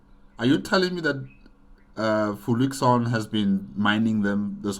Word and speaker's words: Fluixon: Fluixon. Oh, is that how you pronounce his name? Not Fluxion. Okay, I guess I was wrong.